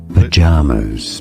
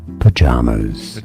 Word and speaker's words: pajamas: break down the pronunciation pajamas both British and American English pronunciations are similar here P J M stress on the second syllable three syllables in total okay pajamas and now you know